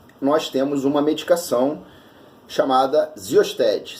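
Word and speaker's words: Xyosted: Tanto que nos Estados Unidos nós temos uma medicação chamada Xiosted. Se fala Xiosted, se escreve Xiosted, que remete aí o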